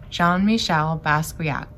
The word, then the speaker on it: Jean-Michel Basquiat: the artist jean-michel basquiat we say his name john michelle basquiat he's a very famous